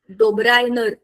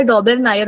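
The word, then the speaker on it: Döbereiner: बघा आपल्याला त्या डोबेर डोबरायनर च्या त्रिकांची जी गोष्ट आम्ही त्याला इंग्लिश मध्ये आम्हाला पण नळा होता हा आम्ही त्याला डोबेर नायर म्हणतो त्याच्या स्पेलिंग प्रमाणे तया डोबेरायनर च्या त्रिकांची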